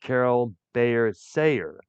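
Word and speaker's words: Carole Bayer Sager: He was also married to a singer and songwriter named Carol Bayer Sayer, if I'm correct how her name is pronounced.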